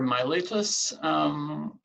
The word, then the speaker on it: Miletus: that time and then we have Miletus or my lettuce some people pronounce it it's the city of